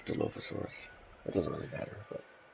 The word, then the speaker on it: Dilophosaurus: And I'm saying it that way because I think that's the actual pronunciation. I looked it up. I think Jurassic Park, the movie, has led us to believe that it's pronounced Dilophosaurus this whole time. But I'm pretty sure it's Dilophosaurus.